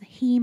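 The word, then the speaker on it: heme: that your body uses heem iron much more effectively um how do you spell that h m okay so it's Hema like the prefix for hemoglobin essentially yeah okay um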